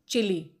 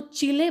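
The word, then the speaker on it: Chile: Spanish में इस word को चिले बोलते हैं और यूएस में प्रोनाउंसिएशन इसका चिली है, तो दोनों ही सही हैं।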